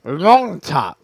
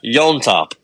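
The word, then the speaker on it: Llontop: say that guy's name there's two L's back to back yeah yon toop okay sure yon toop there's no y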